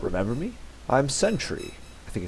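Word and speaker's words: Sentri: not remember me I'm Century I think it's and I think an Ultima six he actually specifies that it's pronounced santre uh we've got adventuring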